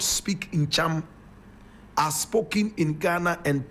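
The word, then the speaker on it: Ntcham: Now the Basaris in Ghana also have their counterparts in Togo, and they speak the language called Ncham. Ncham, and Ncham is spelled N-T-C-H-A-M.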